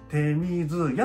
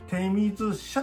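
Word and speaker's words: 手水舎: 書いたんだけど、てみずやって読むとこが多いんだけどね、てみずしゃって読むとこもあ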